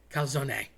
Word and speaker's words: calzone: You don't want to drop that e. In Spanish, calzone is underwear. So, if you want to walk into a place and order some underwear, help yourself. But, if you're overseas, you definitely don't want to do this. You will be looked at funny. Calzone. Don't drop the e. It can be lethal.